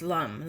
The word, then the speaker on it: lam: Chant its sound, lam, pronounce lum, lum, lum.